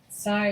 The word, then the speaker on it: psi: Theta is pronounced as in the, phi is pronounced, chi is pronounced k, or ka, and psi is pronounced as in drops.